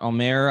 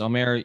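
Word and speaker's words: Ömer: uh our friend uh omar i guess it's omer you're you're pronounce it for me greg sorry uh yertsevin thank you much better than i did uh has signed with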